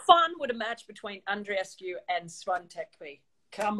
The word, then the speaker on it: Andreescu: yeah and rescue yeah and rescue sounds like she's rescuing somebody and and then it's